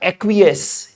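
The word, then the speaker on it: acquiesce: इसका उच्चारण होता है एक्वस। इसके उच्चारण में कई बार बच्चों को दिक्कत होती है कि क्या पढ़ें? तो उच्चारण हिंदी में मैं लिख देता हूं आपके लिए। पढ़ा जाएगा एक्वस।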